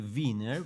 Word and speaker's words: Wiener: Simply, yeah, because Wien, and of course in German it would be V, because W is proper V. It would be Wiener, but yeah, what can you do?